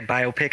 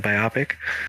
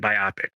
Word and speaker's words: biopic: You know how to say biopic instead of biopic.